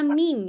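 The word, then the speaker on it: meme: plesetan gitu ya plesetan This is M bacanya mim ya BRIS ya m kemudian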